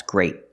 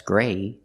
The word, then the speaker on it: great: So remember, pronounce the T's at the end of your words. They're not silent. They're stop T's. That's great. Not that's gray. That's great. Use a stop T.